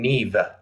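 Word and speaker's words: Niamh: didn't have to try it's it looks to the American eye that it's Nama bagal but she pronounces her her first name Neeve as in rert NE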